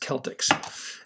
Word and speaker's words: Celtx: like when you first open up celtics it's pronounced celtics now what you do